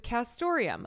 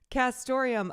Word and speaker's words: castoreum: Castoreum, a classy, antique-sounding word jazzed up by its neat near rhyme with Santorum, like Rick Santorum, stands